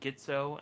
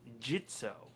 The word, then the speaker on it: Gitzo: uh you know i usually go around saying gitzo and then i re-watch their indiegogo video again it's pronounced jitso really yeah but it's spelled g-i-t-z-o yeah i